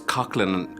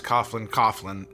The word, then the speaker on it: Coughlin: Although it's Coughlin, we pronounce it at home, so I would have started off as Coughlin and ended up as Coughlin. We pronounce Coughlin in American English. In Irish, it's Coughlin.